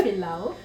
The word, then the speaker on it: pilau: So Eva, I know you mentioned we're going to make, I can't pronounce the name. Please, can you help me out? Yeah, pilau.